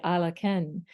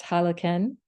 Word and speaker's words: Alaken: And in the Mayan tradition, when somebody would say in Lakesh, the response would be Alaken. And that is sometimes pronounced Halaken, essentially meaning the same thing.